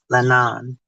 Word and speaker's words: Leanan: Lanawn, she said.